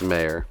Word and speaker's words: Mayer: Is it Michael Mayer or Michael Mayer? It's Mayer. Is it Mayer? Yeah. Well, we're going to go Michael Mayer then. I guess it is kind of spelled like John Mayer.